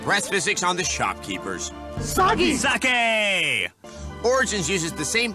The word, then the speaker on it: Sagi: This is kind of overdue, but I'm Sagi. Rhymes with Saki.